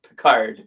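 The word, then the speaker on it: Picard: Yeah, I mean it's classically pronounced Pickard. I mean we know that because we've seen enough Star Trek of our captain. Yeah, our captain from Star Trek.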